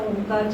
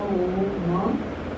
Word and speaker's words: ओम: करेंगे ओम का और करना कैसे है अ ओ म ठीक है फाइव टाइम्स